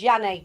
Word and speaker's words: Yanni: pronounce the S. Not Say the again? S off at the end is Yanni, not Yanis.